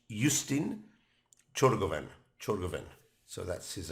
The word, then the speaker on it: Ciorgovean: So I just tried to listen how a Romanian would pronounce it and try and get as near as possible. So it's Justin Ciorgovean.